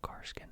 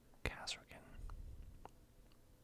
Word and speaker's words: Kasrkin: I don't know why I always said Karskin squad, just because I guess it's easier to say, but yeah, that is the way it's spelled. Kasrkin.